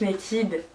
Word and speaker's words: Naked: Donc Naked, ça se prononce comme ça hein.